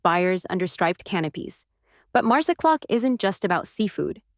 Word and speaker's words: Marsaxlokk: Nestled on Malta's southeastern coast, the fishing village of Marsaxlokk, pronounced Marsaxlokk, is where tradition comes to life in Technicolor.